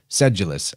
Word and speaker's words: sedulous: pretty fun vocab word sedulous sedulous actually is how you say it which is somebody